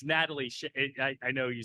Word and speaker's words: Nataleigh: It's Nataleigh.